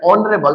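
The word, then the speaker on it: honourable: Ravi is एन ऑनरेबल person. यहां भी एच क्या है?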